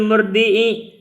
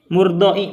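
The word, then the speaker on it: مرضَع: Wa yahrumu 'alal murdi'i at-tazwiju ilaiha. Dan haram at-tazwij. Sebentar. Oh, ini salah baca tadi. Bukan murdi. Murdoi bacanya. Jadi isim maf'ul. Dan haram atas anak yang disusui.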